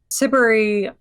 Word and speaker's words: Siberry: I mean, Siberry, and that's how you pronounce her last name, is iconic for the